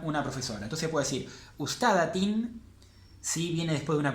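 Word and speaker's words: أستاذةٍ: Entonces, una profesora sería ustadatin. Ustadatin, todo leído, el acento en la vocal larga.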